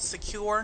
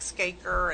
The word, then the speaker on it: SCAcure: secure networks incorporated and secure is spelled SCA c-u-r-e I've gotten any number of interesting names like skaker and what's the cure and so it's secular just like it sounds but spelled differently and the sca stands